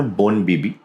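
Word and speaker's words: Bon Bibi: और उनका नाम है बोन बीबी या बोन देवी उनको बोलते हैं। बोन मतलब बंगाली में जब आप वन को प्रोनाउंस करते हैं तो बोन हो जाता है, तो बोन देवी या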